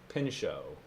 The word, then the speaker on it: Pinchot: where is his pronunciation where's the pronunciation of his name gifford pinchot pin show all right there we